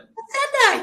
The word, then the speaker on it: Facenda: I meant to ask you how do you pronounce your last name it's Facenda so you nailed it Facenda yay I'm so glad well I understand people